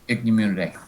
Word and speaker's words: Ichneumonidae: And he also goes into the, God, how do you pronounce it? Ichneumonidae wasp? Yes, Ichneumonidae.